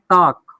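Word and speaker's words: talk: इसको टाल्क नहीं पढ़ेंगे, इसको पढ़ते हैं टॉक। क्या पढ़ते हैं? टॉक।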